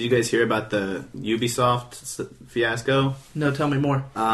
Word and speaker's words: Ubisoft: because they're French. French would be Ubisoft. It's they pronounce it Ubisoft.